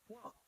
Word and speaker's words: walked: walked the museum, right? So my dear Sebastian, To the museum. the pronunciation is walked. Yes? Walked to the museum. Walked? Like with a T, como si tuviera una T al final.